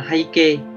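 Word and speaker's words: 背景: Từ này thì âm Hán của nó là từ bối và từ cảnh, từ bối và từ cảnh, và cách đọc của nó là hay kê, hay kê, và nghĩa của nó là bối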